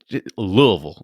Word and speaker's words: Louisville: got to make sure it's just louisville like it does there's no there's no s in there whatsoever yeah well i have